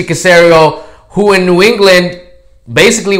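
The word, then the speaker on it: Caserio: The other scenario happens to rhyme with scenario, Mr. Casario, who in New England,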